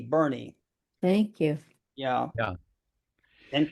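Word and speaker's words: Boerne: It's called Bernie, but it's spelled B O N E. Bernie, thank you.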